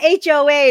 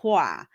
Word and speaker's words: Hoa: HOA it's like no it's not HOA uh but it's spelled it's spelled the same uh it sounds like MOA in in French so it's it's called Hua so I feel like